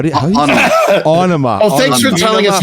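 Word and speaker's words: Ænima: How do you Onema. Oh, thanks for telling us how to pronounce that.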